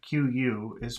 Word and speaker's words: qui: Notice that the combination of QU is pronounced K.